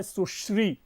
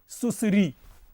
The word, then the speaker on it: सुश्री: होगा एक शब्द है सुश्री अगर आप सुश्री का उच्चारण सही नहीं करते तो एक ये भयंकर गाली बन जाती है क्षमा करेंगे इसका उच्चारण सामान्यतया लोग इस प्रकार करते हैं सुसरी अब जरा समझे कि